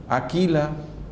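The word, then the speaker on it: Áquila: dice que priscila y águila o aquila pero lleva tilde en la lo tomaron por su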